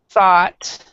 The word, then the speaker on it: thought: Then we have this one, which is thought.